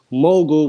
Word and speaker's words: Mogel: Mogul, well, the word mogul, which is Mogul, I spell mogul with the pronunciation of the word mogul, which is in the dictionary.